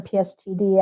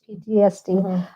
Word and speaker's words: PTSD: I guess they didn't have the term PSTD at that time. That's how you say it. PTSD.